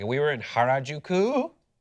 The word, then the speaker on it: Harajuku: But like we were in Harajuku, which I think is how you pronounce it.